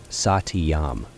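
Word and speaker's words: satyam: It has three syllables. Satiyam. Sa is one syllable.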